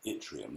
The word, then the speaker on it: yttrium: trace element called yttrium, which is spelt with a Y at the beginning, yttrium.